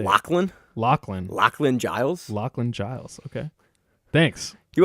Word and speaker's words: Lachlan Giles: All right, Manchurkera defeats Lashin Giles by decision. You butchered his name. How do you say it? Lachlan Lachlan Giles.